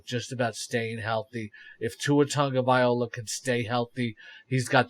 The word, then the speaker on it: Tua Tagovailoa: What do you see out of Tua Tagovailoa? Did I pronounce that right?